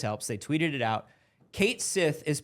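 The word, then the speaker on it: Cait Sith: that was saying, well, it's spelled in a way that looks Celtic, so it might be Ketshi, it might be pronounced like 2 or 3 different ways.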